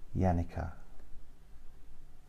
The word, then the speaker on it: Janica: your name so it's it's spelled with a J but it's a y yanica yeah hello anyway um